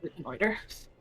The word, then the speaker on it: reconnoiter: I could have swore the I was like not supposed to be pronounced, but Oh, fine. No, it's reconnoiter.